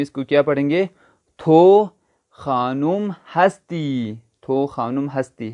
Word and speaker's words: تو: تو، تے واو تو، جس کو ہم تلفظ اچھا کر کے پڑھے تو ہم پڑھیں گے تھو۔ تو اگر ایک آپ